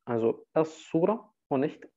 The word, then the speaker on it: السورة: Und Sura gehört zu diesen Lam al-Shamsiyya, wo der L nicht ausgesprochen wird und stattdessen ein Shadda bei dem eigentlichen Wort hinzugefügt wird. Also As-Sura und nicht El-Sura.